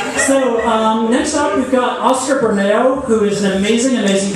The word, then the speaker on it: Oscar Bermeo: So next up, we've got Oscar Bermeo, who is an amazing, amazing poet. We're so lucky. Am I pronouncing your name right?